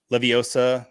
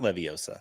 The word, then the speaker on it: Leviosa: Leviosa, not Leviosa. Did I say that correct? Leviosa, not Leiosa.